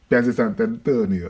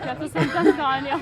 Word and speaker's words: Piazza Sant'Antonio: Anything Italian is Piazza Sant'Antonio, right? It's my first hour here. No. Okay, just check like Piazza Sant'Antonio.